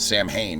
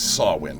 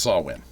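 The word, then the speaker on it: Samhain: Halloween series Mo the movie series called it Sam Hayne in the third movie it is not Sam Hayne it's sawin that is a galic pronunciation that's the way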